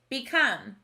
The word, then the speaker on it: become: word the word is become this o should make a long o sound but it sounds like a b come that's the sneaky schwa